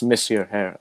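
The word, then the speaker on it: Monsieur Herr: That's Monsieur Hair. I thought it was pretty cheeky, I thought, because it's the French word for Mr.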